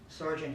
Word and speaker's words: Sergeant: arm in the army Sergeant is pronounced with one syllable by the enlisted two by the officers I gave him the